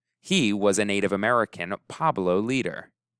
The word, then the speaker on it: Pueblo: He was a Native American Pueblo leader. Pueblo is the correct pronunciation of that tribe.